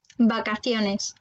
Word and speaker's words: vacaciones: Alors ensuite, on a la lettre V qui va se prononcer comme B. Vacaciones.